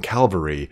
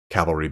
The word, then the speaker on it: cavalry: the illyrian Reavers and you notice I say calves to prevent myself from saying Calvary or cavalry cavalry being the right way to say it but we know